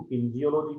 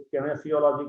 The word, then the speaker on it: kinesiology: कुछ इसको किन्जियोलॉजी कहें हैं, कोई केनेसियोलॉजी कहते हैं, तो प्रोनाउंसिएशन दोनों चलता है।